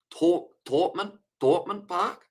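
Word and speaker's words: Thomond Park: And the Sharks need some help on Thorpman Park, pronouncing try a silent H. Thorpman Park.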